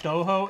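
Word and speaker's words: Stojo: And so the company, I think it's pronounced Stoho. It's S-T-O-J-O.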